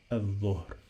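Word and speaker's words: الظهر: So the first syllable is until here, al. And then we have another syllable which started from here too, because we pronounce this letter 2 times, until here, al-dhuh. And finally we have ra, al-dhuhr, al-dhuhr.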